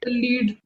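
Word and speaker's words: lead: Next है, why which metal among the following is a लेड। poor conductor of heat? लीड। लेड उसको pronounce करते हैं आदित्य, खैर ठीक है।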